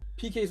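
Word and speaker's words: Piqué: PK's wife. Yeah, PK's wife. PK's wife. Gerard PK. That's how you pronounce But with her, it's that she also,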